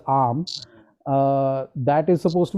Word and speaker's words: Om: sound and the reason arm or what is commonly pronounced as om but I I like to pronounce it I think correctly as arm uh that is supposed